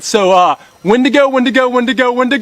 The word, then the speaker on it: Wendigo: to say its name it rhymes with window but uh we're here to see something right so uh when to go when to go when